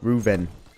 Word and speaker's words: Reuven: bath house and talk to CI ruv ruven ruven y That's how you pronounce it oo isn't this fancy anybody there